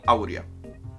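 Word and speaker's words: áurea: internacional la proporción aurea u aurea actually tiene acento en la la proporción aurea de Mario olivio y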